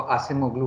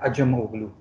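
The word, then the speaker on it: Acemoglu: कौन कौन होगा अजमोगलू आप लोग सब उसको आसिम ओगलू प्रोनाउंस करते हैं लेकिन उसका असल नाम है अजम ओगलू इसका मतलब होता है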